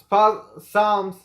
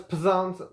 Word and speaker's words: Psalms: Ezra, Nehemiah, Esther, Job, Psalms, I thought it was Psalms, it could be Psalms, whatever. It has a P, I guess the P is silent.